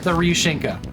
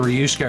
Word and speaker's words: Ryushinka: I've been saying your name wrong. When I heard Doc say it the other day, I realized that I had it wrong. Apologies. I was calling you like the Ryushka or something like that.